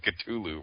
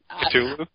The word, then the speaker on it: Cthulhu: Cthulhu? Yeah, you're not supposed to pronounce the T.